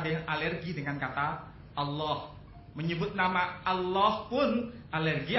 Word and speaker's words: Allah: Sedangkan ALLH pelafalannya semuanya sepakat dilafalkan Allah.